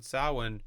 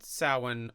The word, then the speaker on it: Samhain: But one Samhain, Finn McCool was there. I think it's pronounced Savain. Is it Samhain? It's spelled Samhain. Yeah. But I think it is pronounced Savain.